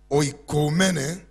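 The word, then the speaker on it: οἰκουμένη: Number two word is pretty difficult for me to pronounce. It's oikoumene, O-I-K-O-U-M-E-N-E, O-I-K-O-U-M-E-N-E.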